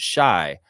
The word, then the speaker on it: Shea: Jill's saying Shea is pronounced shy, like shy.